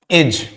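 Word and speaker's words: edge: have the example D अगर डी कभी भी जी के साथ आता है फॉर एग्जांपल एज इसका मतलब क्या होता है किनारे फॉर एग्जांपल नॉलेज ये सब यहां पे क्या होता है यहां पे डी जो है आपका जो जी के साथ आया है ये क्या हो जाता है यहां पे साइलेंट हो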